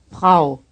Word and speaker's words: Frau: This word is spelled F-R-A-U. The R sound is one of the hardest for Americans. Do not be surprised if it takes you some time and considerable help from your instructor before you can say it correctly.